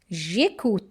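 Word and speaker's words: j'écoute: to maintain the fluency we have to drop letter uh and we'll put it like apostrophe and we'll just pronounce it like one word and it is like jac means I listen I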